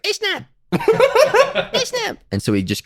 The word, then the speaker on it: Eshnab: How's it pronounced? Eshnab.